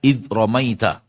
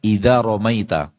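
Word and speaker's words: إِذْ رَمَيْتَ: Harusnya sukun dia membacanya fathah. Terdapat dalam Al-Qur'an surah Al-Anfal. Wama ramaita id romaita. Harusnya id romaita. Dan dia membacanya idamaita dengan harakat fathah.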